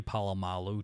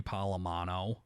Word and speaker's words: Polamalu: yeah all the time like he calls Troy Polamalu Troy polamano to this day that's funny he calls